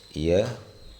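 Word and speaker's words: یہ: വോ, യ, തു, തും, ആപ്, മേം, ഹം. ഇവിടെ എഴുത്ത് വഹ് എന്നായിരിക്കും.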